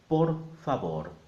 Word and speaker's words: por favor: the vowel sound and the V is a B so together por favor and if you want